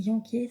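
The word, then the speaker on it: Jenkers: Et en fait, ils enquêtent ensemble sur les meurtres, donc en priorité sur celui de Géraldine Janquet, ça se lit J-E-N-K-E-R-S, ça s'écrit, si je ne me trompe pas.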